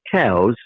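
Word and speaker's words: Coues: it's named after elliot cows pronounced like the the other animal however anybody that is hunting them seriously calls them cousier okay more like c-o-o-s basically yep okay well thank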